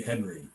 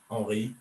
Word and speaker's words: Henri: I never know whether to say Henri or Henry. It's definitely Henry. Okay. You don't use the French pronunciation? I not really. I mean, when I'm in France, all my family in France call me Henri, but Uh-huh. over here it's Henry. Yeah. Any English-speaking countries is Henry.